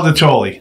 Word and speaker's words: Dotoli: I think it's Dotoli. Dotoli. That's how it's pronounced.